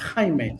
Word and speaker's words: Jaime: natural by the way in Spanish my name is is pronounced Kime so inim you have